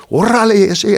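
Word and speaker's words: órale: Orale, and I can roll my R's. You got to roll your R's, orale.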